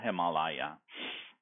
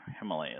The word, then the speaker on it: Himalaya: But this, the Himalaya is a Sanskrit word, and there is no doubt about the correct Sanskrit pronunciation. So the English equivalents are him, ma as in father, la and ya, so Himalaya. However, Himalaya is also correct.